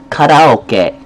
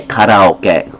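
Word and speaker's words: カラオケ: We've modified the sound so that it fits us. The actual pronunciation is koke but we're not going to say karaoke. We changed it to be karaoke because why?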